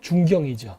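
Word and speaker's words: Chongqing: 최근 우한 폐렴 돌 때에 중층에서 지진 났던 거 아세요? 중층, 한국 발음을 하면 중경이죠.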